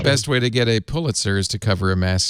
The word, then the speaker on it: Pulitzer: supposed to pronounce it Pulitzer yeah lots of people say Hewlett is not pew that the Pulitzers never liked it when people said Pew let's right is it is